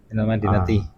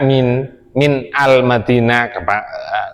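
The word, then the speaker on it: مِنَ المَدِينَةِ: Kalau ana ngomong minal berarti depannya itu alif lam alif alif lam Madinah. Masa ini baca min al Madinah terlalu anu minal.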